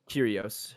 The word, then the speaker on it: Kyrgios: kind of weird curios curios sorry um oh you know you're good it's like curious but silent g i guess like but wasn't it